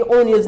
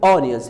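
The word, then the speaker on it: onions: और दूसरी जो बात है यहाँ पे ओनियंस, लोग इसको गलत प्रोनाउंस करते हैं, ओनियंस, ये ओनियंस नहीं, ये ऑनियंस है, ऑनियंस, ठीक है ना जी।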